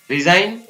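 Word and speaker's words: resign: इसी प्रकार शब्द के प्रारंभ अथवा अंत में GN हो तो जी का उच्चारण नहीं होता है, जैसे डिजाइन, रिजाइन, साइन, इसको क्या पढ़ेंगे, फॉरेन, वेरी गुड, शाबाश।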